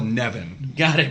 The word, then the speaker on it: Nevin: Then we've got Ryan, who wrestles in a weird pronunciation of Kevin. Yeah. It's French. I call it Nevin.